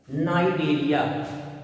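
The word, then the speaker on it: Cnidaria: सी silent होता है इसमें, नाइडेरिया।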